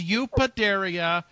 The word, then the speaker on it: Eupateria: He's going to do the Eupo on that. No, it's Eupateria.